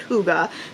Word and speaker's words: hygge: one non-fiction which is my Huga home it's pronounced Huga but it's spelled h y g g e